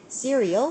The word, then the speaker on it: cereal: 그래서 he would eat cereal for breakfast every day. 자, cereal이라고 발음하지 않고 cereal이라고 발음해요.